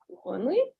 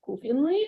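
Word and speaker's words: кухонный: The Russian word for kitchen is kuhonly, right? So Liskov is saying, probably wanting to imitate the servant's pronunciation. Dostoevsky said precisely kufinly and not kuhonly.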